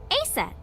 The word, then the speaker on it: Aset: he come up with aset too yeah that's right that name is rooted in Egyptian mythology too horse's mom is named Isis but in ancient Egyptian it's pronounced closer to is or aset H how do I